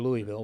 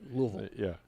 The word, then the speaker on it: Louisville: From Louisville, not Louisville or Louisville, but Louisville. He taught me. I always thought it was. Well, I always grew up thinking it was Louisville, Kentucky. Yeah. But it's almost one syllable.